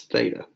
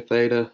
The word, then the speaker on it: theta: And it's pronounced like the TH in those.